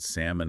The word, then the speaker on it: salmon: about those silent letters we talk about salmon and almond why do we even have those silent L's if we're not going to say them those Sil silent letters